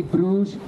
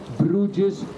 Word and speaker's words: Brugge: of my city because you hear me say Bru bres bras all the time but here we say BR that's the name I